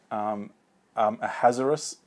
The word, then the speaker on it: Ahasuerus: She is the king Ahasuerus, is often how you pronounce it.